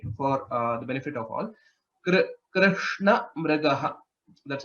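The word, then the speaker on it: कृष्णमृगः: Krishna Mrigaha. That's how it is pronounced.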